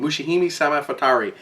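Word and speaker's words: Mushihimesama Futari: saying it I I it took me a long time to figure out how to say this game mushihime Sam fatui uh and it's actually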